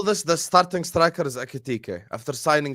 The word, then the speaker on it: Ekitike: So Ekitike, how do you pronounce his name again? Ekitike, yeah.